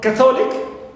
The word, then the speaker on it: Catholic: a and not rate also for Catholic here also exception which the first syllable okay and not uh